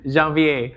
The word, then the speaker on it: Janvier: Kalau mau lebih I wouldn't say pretentious, but the right way to say it is Janvier. So, it's French.